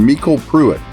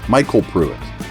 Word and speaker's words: MyCole Pruitt: roster Edition me Cole Hardman or I'm sorry Mel puit Michael puit it's myy c o l e i just butchered the heck out of that right off